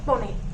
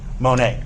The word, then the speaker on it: Monet: Is it Monet? Monet. Monet. Thank you. Aha. Ah, like the artist.